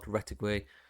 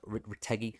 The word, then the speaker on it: Retegui: Retegui, no, Retegi, sorry, that's how you say his name.